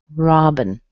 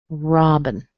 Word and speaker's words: Robin: Ra, so the O in there sounds like the ah as in father. The I has been converted to a schwa. Robin. Robin.